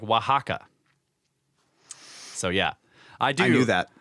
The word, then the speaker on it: Oaxaca: okay The Watcher says The Watcher says o ox Sokka is pronounced like Oaxaca so yeah I do